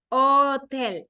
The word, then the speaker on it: hotel: It's hotel because you don't pronounce the letter H, okay?